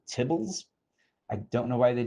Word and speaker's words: tibble: In the tidyverse world, they're called tibbles. I don't know why they chose that name. The abbreviation was TBL, and I guess they decided to just pronounce it as tibble.